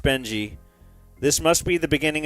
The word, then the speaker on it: Beng: on the desk, and it read B-E-N-G. I phonetically pronounced it as Beng.